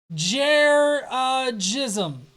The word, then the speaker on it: Jeranism: It's pronounced Jeranism.